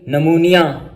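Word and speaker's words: pneumonia: Silent P, पी इज not pronounced at the beginning of many words using suffix. ये PSYCH, जब ये वाला suffix या PNEU यानी ये दोनों लैटिन सफिक्स हैं, जब ये शुरू में आ जाए तो उसमें पी आमतौर पर नहीं पढ़ा जाता। जैसे साइकोलॉजी, नमूनिया।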